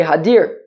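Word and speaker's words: הדר: um hodder ella hadir don't say hudder rather say hadir pronounce it hadir like a a coral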